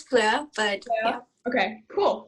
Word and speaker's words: FLØRE: Yeah, Is that how you pronounce it? it's FLØRE, but Yeah.